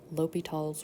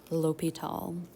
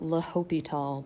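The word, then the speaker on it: L'Hôpital: french language um but this little h o with a hat combination makes the hard o sound so this is pronounced l'hopital not the hospitals not la hopital but just l'hopital um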